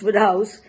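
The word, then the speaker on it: Wodehouse: Sir Pelham Grenville Woodhouse pronounced Woodhouse defies superlatives.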